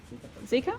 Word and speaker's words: Zika: the 2009 flu pandemic ebola and do i pronounce it zika zika yep and he has worked in brisbane rockhampton